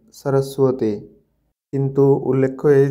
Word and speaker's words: সরস্বতী: হবে আছে এখানে দেখুন অন্তস্থ ব থাকলে সেক্ষেত্রে ও এর মত উচ্চারণ করতে হবে যেমন সোয়াপন সরসুয়াতি কিন্তু উল্লেখ্য এই যে